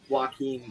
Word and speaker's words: Joaquin: I think I thought, again, I've not seen the Joaquin Phoenix Joker movie. That's how you say his name.